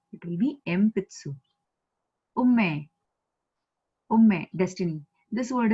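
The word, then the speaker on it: 鉛筆: Similarly, we know this word, empitsu. Empitsu, ne? It will not be enpitsu, it will be empitsu.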